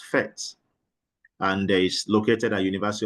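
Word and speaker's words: PhET: here is fet interactive simulation pronounced as fet and is located at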